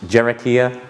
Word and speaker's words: Hiera: Cherokee r dot IO as the website it's pronounced Cherokee ax everyone always asks me that naming things a